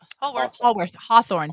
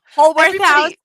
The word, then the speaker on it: Holworth House: Oh, did I say it right? Hawthorne. Where's Hawthorne? Holworth House. I knew it was wrong immediately. Holworth House, and it's not in Hawthorne.